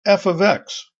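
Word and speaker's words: f(x): with function notation f parentheses X which is pronounced f of X there's no new meaning here function notation emphasizes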